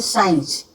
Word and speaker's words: science: इसी तरह जैसे साइंस, तो हम SCIENCE साइंस होता है, लेकिन इसमें सी का प्रोनाउंसिएशन नहीं होता है।